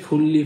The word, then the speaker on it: 분리: আবর্জনার নিষ্পত্তি আবর্জনার নিষ্পত্তি আমরা জানি যদি নিউনের পরে যদি রিউল থাকে তখন নিউ এর উচ্চারণ ল এর মত হয় তাহলে এটা হবে ফুললি ফেসুল মানে নিষ্পত্তি করা